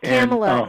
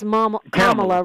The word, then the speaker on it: Kamala: It's not Kamala. It doesn't rhyme with Pamela. It's Kamala rhymes with Mamala.